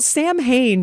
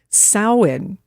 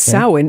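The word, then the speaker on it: Samhain: Well, Sam Hayne is used to be the name of a punk band, but how you say it actually is sin. So it looks like Sam Hane, but it's sin.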